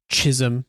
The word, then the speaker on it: Chisum: And I mean, one of their names is Sloan and the other one is Chisum, which Hrix uh lets us know rhymes with Jism without saying Jisom, but he's, you know, definitely creating a character type here.